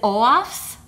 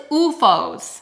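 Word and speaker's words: OOFOS: I think it's UFOs, but there were other people doing videos that were like pronouncing it one way and another, and I think it's UFOs.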